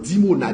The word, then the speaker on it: Dimona: Iran lancé sous dimona dimona comme ça se prononce dimona i m dimona oui qui t'a blessé dimona